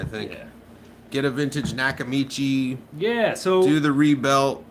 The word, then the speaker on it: Nakamichi: Nakamichi. I always mispronounce it. I used to call it Nakamachi, and then somebody corrected me.